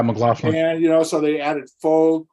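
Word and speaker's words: McLachlan: McLaughlin? Is that how you say her name? Yeah. yeah, McLaughlin.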